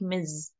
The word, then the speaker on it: Ms: to avoid such problems you will go with the last one like Miz okay okay let's H